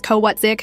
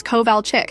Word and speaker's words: Kovalchick: "Yes, Mrs. Kowatzik," I said, pronouncing her name like I was sounding it out for the first time. Her head snapped up from her notes. "It's Kovalchick."